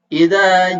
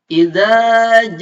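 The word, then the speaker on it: إِذَا: 6 harokat akan tetapi hati-hati tertukar antara makhroj huruf dza dengan makhraj huruf ja ini bacanya Za lidahnya disimpan di ujung gigi atas kalau Jak tengah-tengah lidah disimpan di tengah-tengah langit-langit izzat Oke selanjutnya Nasrulloh bukunya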